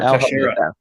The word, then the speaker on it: Teixeira: Mark Teixeira.